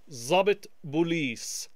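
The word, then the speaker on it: ضابط بوليس: This is because Arabic has some letters that we often refer to as emphatic letters, and you will hear when I say them that they have a slightly different sound from a regular Z or S.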